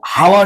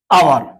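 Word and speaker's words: hour: এটা সেম হাওয়ার না, আওয়ার, মানে আ, এন।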